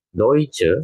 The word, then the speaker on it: Deutsch: Deutsche ini berarti orangnya dan Deutschland ini berarti negaranya. Ya, jadi EU tadi ingat ya. Itu dibacanya menjadi OI. Maka di sini dibacanya Deutsch, Deutsche, Deutschland.